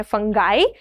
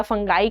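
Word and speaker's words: fungi: Then हमारे पास आते हैं फंगाई। इसको प्रोनाउंस बेटा फंगाई करते हैं, बहुत लोग फंजी या फंगी बोलते हैं, डू नॉट go with that, फंगाई बोलेंगे तो ज्यादा अच्छा होगा।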